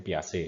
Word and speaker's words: Piaget: teori dari Piaget ya, tulisannya Piaget tapi bacanya Piaget ya, karena dia orang Austria tapi berbahasa Perancis ya.